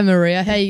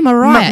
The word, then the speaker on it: Maria: right oh hi hi Maria hey going that variety glad you said my name right so many people are saying my name wrong likewise no Ryan why would people say Mariah you're obviously Maria Mariah I think yeah